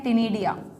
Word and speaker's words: ctenidia: अगर ध्यान रख सको तो फेदर गिल का एक नाम और होता है बच्चों, टिनिडिया, सी साइलेंट है, टिनिडिया, CTENIDIA, टिनिडिया, ओके।